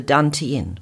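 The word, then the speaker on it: tantien: we associate with a point called the dan tien which is spelled t-a-n-t-i-e-n this dante endpoint is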